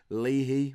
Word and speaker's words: Leahy: Leahy, which I am assured is how you say his name, occasionally plays instead of